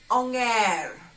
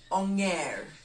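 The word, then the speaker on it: onger: do we refer to monkey in the luau anger angel angel again many people like using this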